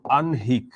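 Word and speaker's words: আহ্নিক: ধর আনহিক এটা হচ্ছে উচ্চারণ।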